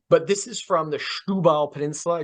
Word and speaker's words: Setúbal: But this is from the Setúbal Peninsula. Do you know I'm pronouncing that correctly? So Setúbal is ja, das stimmt.